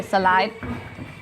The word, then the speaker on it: salai: it a slide knee he actually calls it salad because that's how thais pronounce it so you can't call it a slide knee you have to say salai i just said